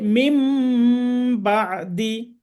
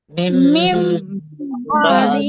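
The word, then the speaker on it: مِنۢ بَعْدِ: তাহলে এখানে উচ্চারণ হবে মিম বাদি। মিম মিম বাদি। বাদি। তাহলে নুন সাকিনের বামে বা থাকলে নুনটাকে মিম ধরে গুণনা করে পড়তে হবে, মিম বাদি।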